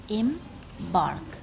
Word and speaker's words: embark: It is divided into two syllables, embark. And in case of the word embark, we give the stress to the second syllable, like em goes unstressed and bark goes stressed.